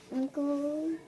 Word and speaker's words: uncle: unle there you go and then there's an e at the end that you don't hear there's a silent E there is a silent e uncle I went to the